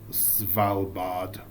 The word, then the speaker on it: Svalbard: That's pronounced Svalbard.